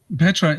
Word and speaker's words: Petra: who know you know oh yeah that's awesome Petra how do you spell how do you spell your first name Petra is it P p e t r a